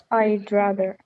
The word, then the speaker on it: I'd rather: There's no w sound.